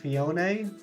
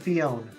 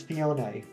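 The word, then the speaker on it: Phione: understand that it's pronounced fionae I always said fione I just left the E alone just let it be like you know a regular e at the end of a word this field um but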